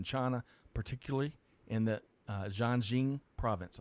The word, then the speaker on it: Xinjiang: particularly in the uh jean jean province i think i got that right too jin john close gosh i got the wrong emphasis on the wrong fastness on the wrong side so xinjiang province cbs news reports and